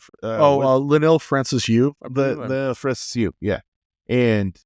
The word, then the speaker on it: Francis Yu: I always say his name wrong, Francis Liu. Linnell Francis Yu.